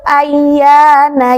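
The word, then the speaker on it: أَيَّانَ: Ini ya-nya bertasydid berarti harus ditekan juga ya. Ayyana. Jangan sampai teman-teman membaca yas'alu ayyana tidak ditekan, harusnya ditekan dari alif ke ya.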